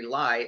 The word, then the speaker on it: Lai: The first guy to study DNA damage was Dr. Henry lie l ai I think he pronounces or say his name spell his name out of University of Washington